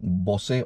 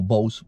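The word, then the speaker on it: Bose: de audio es excelente es un Bosé o bows dependiendo como lo quieras pronunciar y suena de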